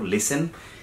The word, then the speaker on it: listen: listen okay very simple listen AT&T collective action Internet okay this T ok remains silent we don't pronounce it umbrella term Corina da